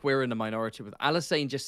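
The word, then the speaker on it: Alysanne: saying, how can it be pronounced Ain when it's spelled Alisan? It's two N's, it's Anne.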